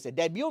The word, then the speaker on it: debut: Now, a Dutron T is silent. For example, start debut means to start a fresh to start new someone who has not done that thing.